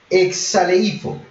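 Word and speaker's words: ἐξαλείφω: K-S-A-L, y con tilde, P-H-O, pero suena como si fuera una F, como cuando se refiere a Phoenix, Arizona, que se escribe pero PH. Exaleifo, que significa borrar, pero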